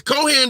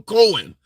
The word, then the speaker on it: Cohen: Cohan the okay Co Cohen says Cohan the H is silent okay so Michael Cohen all right fair enough